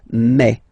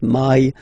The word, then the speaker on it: mai: Okay, so don't pronounce I, don't try to pronounce it. No, it's me. So it's not my, it's me.